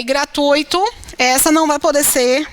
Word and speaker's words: gratuito: costumam errar na pronúncia as pessoas elas pronunciam gratuito a palavra é gratuito não há palavra é